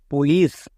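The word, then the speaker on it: police: ই টা দিলাম ই দেওয়ার জন্য সি এর উচ্চারণটা দন্তস হলো তাহলে দাঁড়ালো পি ও এল আই সি ই পুলিশ পরিষ্কার নেক্সট সিন্স সিন্সকে আমরা কিভাবে করে লেখবো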